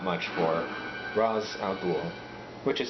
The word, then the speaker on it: Ra's al Ghul: In the end, they're not much for Ra's al Ghul, which is how you pronounce it.